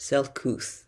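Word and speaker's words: Selcouth: strange unusual rare unfamiliar marvelous wondrous and it's pronounced self-couth originating from middle english and old english it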